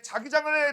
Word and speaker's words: 자기장: 자기장 얘기를 좀 알아야 돼요. 자, 그럼 지금부터 이제 자기장에 대해서 알기 위해서는 바로 자기장 정의부터 좀 알아보도록 하겠습니다. 발음 조심하세요. 자기장 아니야. 알겠니? 자기장 아니라 자기장이야.